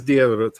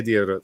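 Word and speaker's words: Diarmuid: Because I listen to that lady say what I hear as Diarot every time she says it, but I look at it and I see a D and I get very confused about Irish pronunciation a lot. But she says Diarot, so I'm going to say Diarot. So, Le valise est grande,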